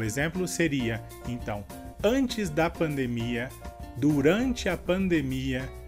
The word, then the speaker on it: pandemia: E a diferença seria que em espanhol a sílaba mais forte tanto na palavra epidemia e pandemia seria de. E em português, a sílaba mais forte tanto em epidemia como em pandemia seria mi.